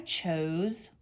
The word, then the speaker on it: chose: chose my outfit today do you think it's an s or a z it's an s even though it makes the z sound we need a boss e to make o say its name chose all right let's